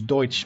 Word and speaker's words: Deutsch: Kaiser I campaign as douche middle Africa Deutsch I keep pronouncing that wrong I apologize it's Deutsch Middle Africa I believe